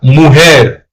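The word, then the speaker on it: mujer: If you're saying the woman, which is automatically feminine, you would say la muer. Muer. M u j e r. Remember j is pronounced as an h.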